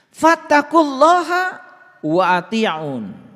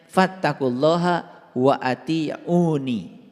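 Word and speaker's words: فاتقوا الله وأطيعون: Fattaqulaha wa ati'un. Nah, ini sebetulnya dibacanya harusnya fattaqulaha wa atiuni. Dibacanya harusnya begitu.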